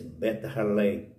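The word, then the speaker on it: בית לחם: Belém, a palavra Belém, é uma palavra hebraica, pronuncia-se Bet-Halem, que significa casa de pão.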